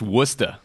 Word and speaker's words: Worcester: Institute to do it I believe it's pronounced wer wer I don't know wer